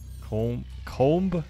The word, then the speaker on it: comb: I say comb? The second way you pronounce... Comb. Ah, no audible B.